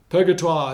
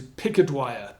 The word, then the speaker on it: Purgatoire: Purgatoire has been simplified into picket wire. Purgatoire. Picket wire.